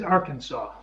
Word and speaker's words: Arkansas: See, I've always pronounced Arkansas as Arkansas. Like the S is silent, and you kind of run the ARK together, ARK.